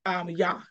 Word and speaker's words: Jah: But now the letter J is not even in the Hebrew language. So it's pronounced with a Yah. A Y. Y-A.